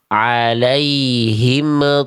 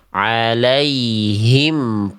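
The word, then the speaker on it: عليهم: Jadi bacaan di sini bukan dibaca alaihim th alaiim th tapi kita baca alaihim th alaihim th.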